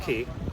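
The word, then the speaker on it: Cay: It looks like K, but it's pronounced Ki.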